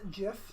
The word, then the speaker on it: GIF: I have ever seen ever just him serious pronounced jiff no jiffy my loo boy I'm gonna bud